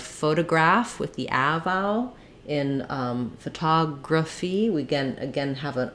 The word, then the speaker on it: photography: the vowel sounds and we have stress on the TA syllable now my first letter O is going to be the schwa sound because it's unstressed stress falls on the